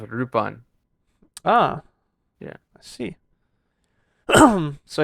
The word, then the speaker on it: Lupin: yeah yeah so now now it is in Japan it is pronounced rupon ah yeah I see